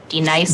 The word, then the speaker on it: Denise: You say your name right now. Denise. Say it right. Denise. Correctly. Denise. Right. Denise. Right. D-nice. That's better. Thank you.